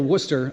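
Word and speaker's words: Wooster: am here in beautiful Worcester Ohio said it right Worcester Ohio not like where I'm from uh wora Massachusetts I'm here with Bill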